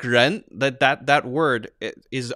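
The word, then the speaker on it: rén: Like ren, that word is R. That starts with R. It's the same thing. And the pinyin spelling is R-E-N. And that pronunciation is ren.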